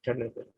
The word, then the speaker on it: Charles Bell: Así como pronunciación inglesa, Charles Bell.